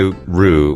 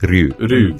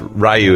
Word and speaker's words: Ryu: Sometimes I'll say Ru, which is not right, but the correct pronunciation in Japanese is sort of their weird DR combination sound. Right. Like Ryu.